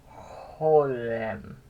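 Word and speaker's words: חוֹלָם: This makes a long O sound, and it's called Holem.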